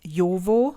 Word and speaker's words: Jowo: And then Jowo, same thing. Jo. And we don't pronounce J like Joshua, Joe. It's yo. It's more like yo, vo.